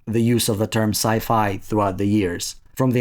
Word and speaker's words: sci-fi: S-f pronounced SF and sci-fi rhyming with its model hi-fi.